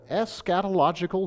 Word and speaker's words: eschatological: And this song of Zion has what in theology we would call an eschatological vision. Now I think I started off with too many syllables already. Eschatological.